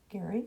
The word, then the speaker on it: Gary: Gary, Gerry, but it's pronounced Gary.